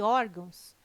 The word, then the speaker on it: órgãos: Observação: poderia gerar dúvida a palavra órgãos, mas ela não termina em O, termina em ão.